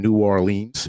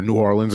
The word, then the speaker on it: New Orleans: to be down in New Orleans or New Orleans excuse me they don't like it when you pronounce it the first way um we got the